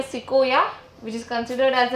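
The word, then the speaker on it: sequoia: एंड at present एक tree है जिसका नाम है सिकोया which is considered as the tallest tree in the world.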